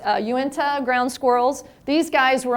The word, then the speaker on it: Uinta: I didn't know how to pronounce their name, so I had to look that up too. It's Uinta ground squirrels.